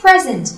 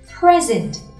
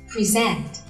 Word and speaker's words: present: Nào, không đọc là present với trọng âm ở âm tiết đầu tiên nữa, mà trọng âm sẽ rơi vào âm tiết số 2 và đọc là present.